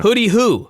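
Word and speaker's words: Hoody Hoo: Now, I was unaware of this, but hooty is spelled with a D. Okay. So it's not hoot, like an owl. It's hood. Like a hoodie. Like in the hood. Uh-huh. Hooty-hoo. Okay. But they pronounce it hooty-hoo.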